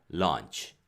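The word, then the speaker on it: launch: 얹히는 뒤로 나오겠지만 은 발음은 좀 길게 해 주셔야 되요 완치 라고요 발사 짧게 하면 어떤 발음 처럼 드릴까요 d 제부 1초 버리지 않고 반칙 내 점심 처럼 들려요 그래서 바람에 길게 해야지만 7c 발사가 됩니다 런치 4 그리고 날짜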